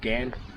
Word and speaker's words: Ghan: It's probably actually pronounced Ghan, because short for the Afghan train.